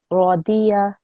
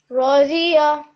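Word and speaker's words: راضية: You're saying Z, and that's actually from Urdu. In Urdu, we say it like that, but in Arabic, actually, how you're meant to say it is dot. So the Radiya. Raziya. Yeah, so you shouldn't hear the Z sound because that's a different sound in Arabic.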